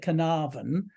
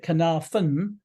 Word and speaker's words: Caernarfon: in Welsh so carnavan we call it carnarvon with a V the Welsh call it kanathan with an F uh the place that